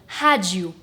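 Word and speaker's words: rádio: and the letter O when it's at the end of a word makes a sound like ooh. So, we end up with hadju. Let's hear that. Radio. radio hadju Completely same spelling, completely different pronunciations.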